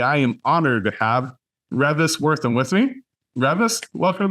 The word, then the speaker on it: Reavis: And with a name like Reavis, it's always mispronounced anyway. I've grown accustomed to answering to Reavis, but you got it just right.